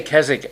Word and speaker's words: Keswick: over here yeah well we say keswick which is correct that's the way that people say it is that right is not the way you say it all right it's a silent w oh i say it